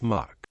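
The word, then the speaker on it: MUC: meritorious unit Commendation is abbreviated as Mu and pronounced as Muk Army the meritorious unit Commendation emblem warn to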